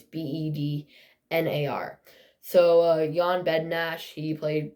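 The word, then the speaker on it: Bednář: And then their goalies, Jan Bednash, and that's not how it's pronounced. It's how it's pronounced, but it's not how it's spelled. His last name's Bednar.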